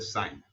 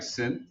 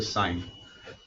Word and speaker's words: sine: now as of today any time that you see us that is going to be the sign it looks like sin that's how we usually write it but it's called the sign this one over here